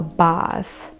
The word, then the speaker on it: bath: British and American so instead of pronouncing the a as air because I think that's how it is being pronounced in America in British English or in rpe a is pronounced like a very long a like ah so bath fast last